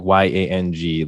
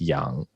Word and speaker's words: Yang: only is there like y-a-n-g like it it's pronounced young right but it's spelt y-a-n-g and most people will read it as yang but then if it's